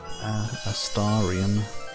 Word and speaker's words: Astarion: Supposed to be pronounced Astarion. A stare. Just a stare, the ion on the end disappears.